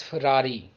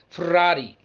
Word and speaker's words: Ferrari: expensive cars ever made f-e-r-r-a-r-i most of the people pronounce it as ferrari but its italian pronunciation is ferrari ferrari ferrari i hope